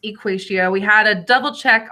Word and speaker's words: EquatIO: I am a 7th grade math teacher here, and yes, it is pronounced EquatIO.